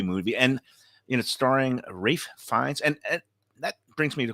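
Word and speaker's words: Ralph Fiennes: and you know starring Rafe finds and that brings me the question so you know it's spelled Ralph but how do you get Rafe from Ralph I mean they'll be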